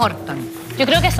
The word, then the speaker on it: Horton: ¿Orton o Horton? Yo creo que es Orton. ¿Es Horton? Horton dicen por ahí. Horton. Ah, como que la H se... Como la H es J. J, se transforma en J.